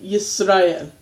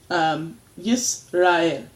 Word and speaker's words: Yisrael: And just know that Yisrael. You can almost do that. Yisrael. Go ahead and do as much as you can the ra'el part of it as one syllable, because that's how they're going to be broken up.